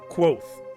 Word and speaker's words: Kavoth: quoth. Quoth. Like quote.